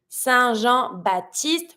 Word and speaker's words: Saint-Jean-Baptiste: Saint-Jean-Baptiste. We're not going to pronounce the P in Baptiste.